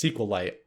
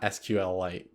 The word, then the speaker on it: SQLite: Also, I pronounced it wrong with them. It's SQLite, not SQL Lite, but like it says SQLite.